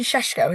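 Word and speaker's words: Šeško: You have is it Benj Benjamin Seshko?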